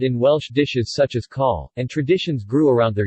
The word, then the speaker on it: cawl: Dishes such as cawl, Welsh rarebit, laverbread, Welsh cakes, bara brith, literally,